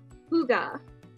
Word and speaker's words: hygge: fika is the word hygge here it is hygge this is how you spell it and this is how you say it